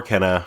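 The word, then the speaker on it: Kena: anyway i finally played kenna oh nice we've been excited to hear your reaction to this i should say kana or kenna because different characters say it different ways for some reason don't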